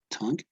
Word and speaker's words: tongue: tongue you know tongue it's not an o it's like between an o and a stung tongue then we have the